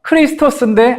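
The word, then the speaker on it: Χριστός: 그리고 크라이스트가 아니라 크리스토스인데 안 바뀌는 부분이 크리스토까지예요. 그러니까 그리스도가 원어에 더 가까워요, 사실은.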